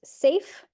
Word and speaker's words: SAPHE: public health Excellence act sap is Believe It or Not pronounced safe so safe 1.0 um was